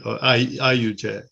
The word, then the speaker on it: Ayutse: And Ayutse, I don't even know whether I pronounce it properly. Do I? You do. Ayutse.